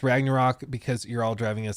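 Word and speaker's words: Ragnarök: this one a lot how do you pronounce Ragnarok in Olden orse it was pronounced Ragnarok oh that's the whole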